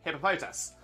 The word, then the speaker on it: Hippopotas: the last bit um see I have about us hippopotus hippopotas that's I'm gonna say that's how it's pronouncing the anime that's how it's pronounced in um Pokemon Masters uh Masters imagine what I'm thinking um yeah it's it's everywhere it's been in where it's had a verbal uh spelling it's always been hippopotas um so yeah I